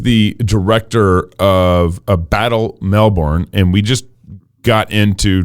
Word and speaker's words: Melbourne: city correct well in in Australia the letter R doesn't really exist um so according to Australians it's actually Melbourne as though on the